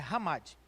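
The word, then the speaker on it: חמד: no hebraico quer dizer hamad você vai ver escrito na sua revista chamade mas a pronunciar ramadi ela vai aparecer 14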